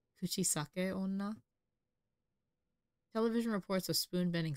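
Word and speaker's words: Kuchisake-onna: urban legend of the kuchis Sak Ona oh I pronounced that weirdly very American kuchisake Ona television reports of spoon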